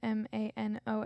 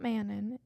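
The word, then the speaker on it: Manon: and it was saying it's not mannon it's not Manan and I can't do it again if I tried but it's like a French pronunciation it's like Mano or something like that but that's like her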